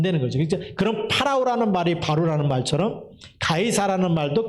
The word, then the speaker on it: 파라오: 썼을 때 그 바로는 그 우리는 바로라 얘기하지만 영어 발음에는 파라오는 말을 써요 파라오 파라오가 그냥 우리는